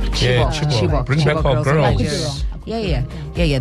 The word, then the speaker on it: Chibok: Well, I pronounce it Chibok. Yeah, Chibok.